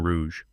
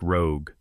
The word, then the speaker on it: rouge: Un verre de vin rouge." "Oui." Preston butchered the words. He pronounced vin like van and rouge like rogue.